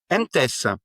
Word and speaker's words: MTESS: Est-ce que je prononce correctement ? C'est MTES. MTS.